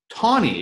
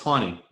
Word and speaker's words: Taney: Tawney, exactly right. Tawney. Yep, close enough. Yeah, it's pronounced Tawney. Chief Justice Roger Burke Tawney, who is not a